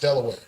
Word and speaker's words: De La Warr: British general, Thomas West, Lord de la Warr, now pronounced Delaware.